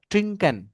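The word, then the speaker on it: trinken: তো জার্মানিদের উচ্চারণটা হচ্ছে ট্রিঙ্ক, আর ইংলিশ ওয়ার্ডটা হচ্ছে ড্রিঙ্ক।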